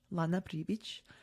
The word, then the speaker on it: Pribic: So, my name, like if you pronounce it in Bosnian, it's Pribic.